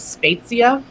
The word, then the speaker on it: Spezia: Anastasia Italian yes Italiano did you know that the actual Italian pronunciation is spetsia but I don't have